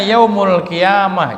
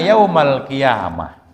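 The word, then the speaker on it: يوم القيامة: Nah di sini kana yaumul qiyamah. Jadi bukan kana yaumal qiyamah. Kana yaumul qiyamah ai jaa. Jadi artinya kana di sini bermakna jaa. Idza kana ai idza jaa. Makanya dibacanya yaumu jadi fa'il gitu.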